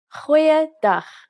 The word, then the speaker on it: Goeiedag: Goeiedag, ek is Anne-Marie Luck. Aangename kennis. Let's try that again. G. Try pronouncing it from the back of your throat.